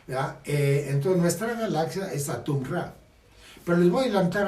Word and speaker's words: Atum: Bien, entonces en egipcio se pronuncia Atum o Itemu, ¿sí?